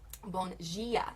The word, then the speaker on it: bom dia: and Sao Paulo, then it is bom dia. The D turns to a G, but it's still spelled the same.